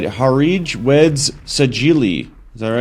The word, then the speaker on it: Harij Weds Sajili: Let's see if I could pronounce it right. Harij Weds Sajili.